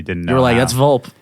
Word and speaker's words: Volpe: Volpe. Oh my God, we have a winner. Yeah. I feel like when I first started talking to you online, I probably didn't know. You were that's Volpe.